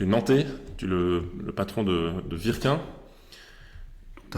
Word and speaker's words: Wirquin: Euh il y a toutes les prononciations euh VK, c'est un V. W du nord de la France se prononce.